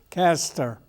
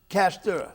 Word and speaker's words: Caster: How do you pronounce it? Caster. Caster.